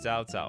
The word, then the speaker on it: Cao Cao: Chow Chow is pronounced Cao Cao.